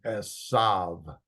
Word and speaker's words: Esau: So he was like a hairy garment all over, and they called his name Esav. I know it has a U here.